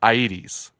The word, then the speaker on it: Aedes: mosquitoes of the genus Aedes like the 80s we learned how to pronounce that actually between episodes thanks